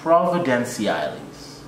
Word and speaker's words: Providenciales: And I live on the island of Providenciales. Say it once a time. Providenciales. You got it, you got it. Not Turks and Caicos. Caicos. No, nigga. Turks and Caicos, straight up. Providenciales.